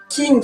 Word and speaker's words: jing: King euh taot King à chaque fois que vous avez King qui s pris qui s'écrit j i n g hein bien sûr voilà